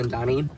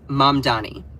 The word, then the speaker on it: Mamdani: So, okay, so I'm seeing more people saying Zohran Mandani. All right, let's talk about him. So, you all may have heard of the name Zohran Mamdani.